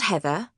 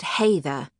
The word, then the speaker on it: Hathor: Not Heather, but Hathor.